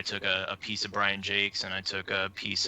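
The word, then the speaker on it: Jacques: a piece of Brian Jakes and I took a piece of Associated Press and are you think brand jocks Jakes is it pronounced Jake's GA burnouts Jake's okay yeah I've never build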